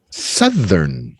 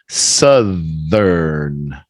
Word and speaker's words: southern: Like up, southern and hemisphere. South and southern. It's a strong TH now, so it changes the sound.